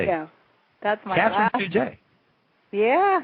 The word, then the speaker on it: Fugate: father's side, and we're from Louisiana, and the pronunciation is Fugate, even though never get that from the spelling.